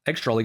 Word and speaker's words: extraliga: cards, baseball Czech Extraleague, or Extraleague as I will call it because it's way easier to pronounce for me and it's the Czech way to say this.